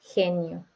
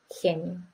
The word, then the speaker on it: genio: G más IE es G. It's the same as J. Genio. Gato. Genio.